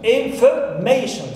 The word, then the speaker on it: information: word it is information information so may is my stress syllable third one here last word